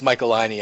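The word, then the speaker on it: Michelinie: 305, which was Dave Michelini or however you pronounce the surname. Because I know we disagree on that. I believe it's Michaelini. I believe Joe introduced me to him as Dave Michaelini, and I said, "Hi, Mr.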